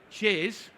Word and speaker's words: CHIS: Remember, chiz stands for Covert Human Intelligence Source. And it is spelt CHIS.